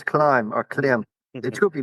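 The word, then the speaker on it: Klim: It's Climb or Clim. It Mhm. should be pronounced Clim, but the Americans call it Climb.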